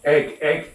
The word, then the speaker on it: Eigg: the Isle of Egg, is that how you say it, Egg? The Isle of Egg? Egg, yes. EIGG, where it used to